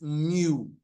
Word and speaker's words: mu: alphabet all right and it's pronounced as me so this is it so will call it uu but you know it's me right this me is